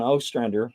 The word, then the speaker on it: Ostrander: and I had uh John O strander or Ostrander however you want to pronounce it he says he goes both ways but I had him